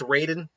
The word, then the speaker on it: Raiden: didn't write in pronunciation i think it's raiden i'm going right in just to uh keep them separate from the mortal kombat character but yeah he's um